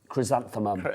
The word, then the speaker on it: chrysanthemum: Chrysanthemum. Yes, and Worcestershire. Worcestershire. Yeah. Worcestershire sauce. Worcestershire. Worcestershire. Worcestershire. It's 3 syllables.